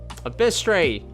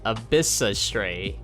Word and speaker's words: Abyssray: Oh, Abyistray. Wait, I've been I've been reading your name wrong. Abyssray, I'm so sorry. I just been saying Abyistray all this time, but hello.